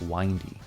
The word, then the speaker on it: Windy: story is Tune Shop Windy. I think this is pronounced windy. Makes more sense than windy, what with all the winding roads and all.